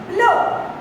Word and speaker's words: blow: The next word is Here, the sound of W is silent. So, the word is blow.